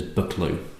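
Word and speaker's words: Buccleuch: do but okay bucklew although I've always pronounced this bucklew as in lock or back Dorothy up cheers told me that the Duke himself pronounces it as bucklew so there you go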